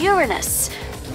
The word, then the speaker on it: Uranus: no jokes about Uranus besides that proper pronunciation is Uranus it's a ductal sorry